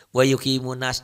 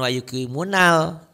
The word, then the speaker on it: wa yuqimunas: Lupa namanya tenan naon, yang penting mah bacanya bener aja bil ghaibi wa yuqimunas, jangan wa yuqimunal, jangan dibaca L-nya.